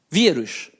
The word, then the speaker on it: vírus: Vírus. Qual é a sílaba mais forte? Quando você fala vírus, é o rus? Não, é o vi, não é verdade?